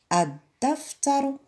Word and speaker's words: الدفتر: الدفتر، الدفتر. طبيعة الحال ما نطقناش اللام لأنها شمسية، الشمسية.